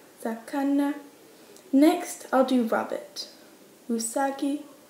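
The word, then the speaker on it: 魚: Fish is sakana. Fish is quite a tricky one, so don't be bothered if you can't do it first time. Sakana, sakana.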